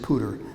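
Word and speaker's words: Powter: spelled powder but um the family pronounces it pooter Andrew pooter lived from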